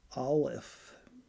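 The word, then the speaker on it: aleph: It's pronounced olif. A l e p.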